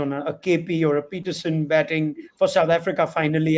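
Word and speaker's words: Pietersen: must point this out he is peterson kevin peterson is not peterson he's peterson okay and it gets pronounced incorrectly it's peterson which is an afrikaans and peterson is an english surname all right thanks for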